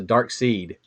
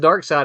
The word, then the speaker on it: Darkseid: not terribly long ago i always pronounced the dark seed i did as well because it has that funny spelling you know i think dark seeds when someone said dark side i'm like i'm not